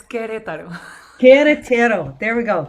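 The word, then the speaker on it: Querétaro: to get this right cuerratero do i have that is that right am i saying that right almost because the u is silent so it's queretaro queretero there we go queretaro mexico and she's coming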